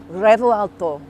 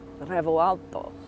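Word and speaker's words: Revuelto: I've got the key to the brand new Revo Alto. That's kind of how you say it, but not really. You're meant to roll the R, but I can't roll R's.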